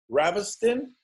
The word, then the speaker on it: Ravestijn: You can, the J is silent, so you can call me as well if you want.